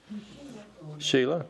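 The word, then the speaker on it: Shelah: Air anan I don't know may I ask my phonics teacher how would you pronounce sh h e l ahila sheila okay I didn't you know when you've used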